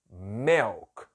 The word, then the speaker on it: milk: Eu já falei para você da pronúncia que esse I tem som de E. Então não é mi, é me. milk.